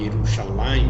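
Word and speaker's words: ירושלים: Então, por exemplo, a gente encontra muitas vezes Yerushalam, né? Que deveria ser pronunciado Yerushalam, né? Mas na leitura, né, é Yerushalayim, né?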